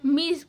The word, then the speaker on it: Ms: और एम एस का मतलब क्या होता है, मिस बोला जाता है उसे, उसका प्रोनाउंसिएशन ऐसे होता है।